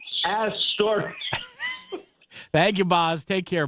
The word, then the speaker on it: Astoria: Astoria.